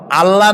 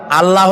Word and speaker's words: আল্লাহ: বলেন তো আল্লাহ নয় কিন্তু আল্লাহ হচ্ছে অশুদ্ধ শুদ্ধ হচ্ছে আল্লাহ বলার সময় মুখটা